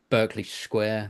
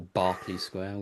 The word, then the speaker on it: Berkeley Square: Uh you've got uh Berkeley Square that was apparently or Barkley Square, whichever way you want to pronounce it, that was apparently haunted, but it's not.